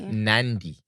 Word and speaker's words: Nandi: So I don't get your name wrong. It's Nandi in the tiny. Nandi.